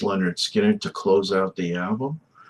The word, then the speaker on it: Lynyrd Skynyrd: Uh, so we have a bunch more songs off of uh, pronounced Leonard Skinner to close out the album.